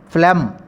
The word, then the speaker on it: phlegm: If you didn't pronounce G, it is a silent consonant. The pronunciation is phlegm.